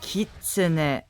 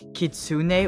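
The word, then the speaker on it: Kitsune: get the most important thing sorted out it's pronounced kit not kitsun or worse kitsun as I've heard some people call it that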